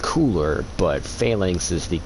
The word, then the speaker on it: Phalanx: the first Archstone which is boletaria up to phalanx and then uh I I always pronounce it falinux because I play Final Fantasy 11 and that's how my dad pronounced it and he played Volks 11.